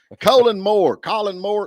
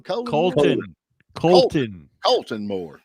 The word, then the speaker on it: Colton Moore: Colin Moore. How you say his name? Colton Moore.